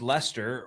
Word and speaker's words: Leicester: Leicester City, pronounced Lester, were like 15,000 to one odds of winning the title.